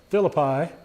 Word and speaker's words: Philippi: Remember, they're going from Philippi over here to Thessalonica. They don't have a long I sound, so it's Philippi, but we call it Philippi, and we're right and they're wrong, okay?